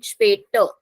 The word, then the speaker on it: später: Or you don't have to emphasize on the letter R. I'm not saying später. I'm just saying später. So R has a very slight pronunciation.